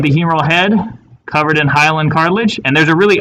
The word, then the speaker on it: hyaline: So hyaline is spelled H-Y-A-L-I-N-E, hyaline.